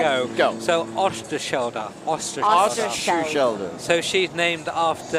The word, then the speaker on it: Oosterschelde: Well, you need to be Dutch to really be able to pronounce it. Well, that I'll I'm give not. it a go. So Oosterschelde.